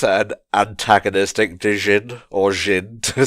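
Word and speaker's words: Jinn: Is this our first glimpse at an antagonistic Jin, or Jin, to say it properly?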